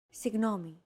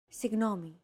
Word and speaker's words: Συγγνώμη: Συγγνώμη. This word is often romanized like this. Συγγνώμη. This character isn't pronounced using an English G sound at all.